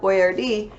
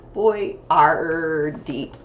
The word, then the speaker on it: Boyardee: So when I wear my chef hat, it's to help you with lots of phonograms, because in Chef Boyardee, we saw many of our two-letter phonograms.